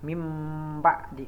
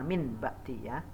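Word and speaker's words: مِن بَعْدِ: ketemu dengan huruf ba cara membacanya adalah mimba'di bukan mint Mbak Tia tapi Meme Pakde yang berikutnya yaitu Sami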